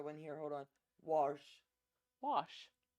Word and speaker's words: Wash: Wash. There's no R. WORSH. Wash.